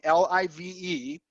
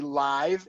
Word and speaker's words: live: phoneme but you have exactly the same word spelling Li ve but it's two phonemes pronounced differently live and live and one of them is a verb and one of them is a noun yes thank you yes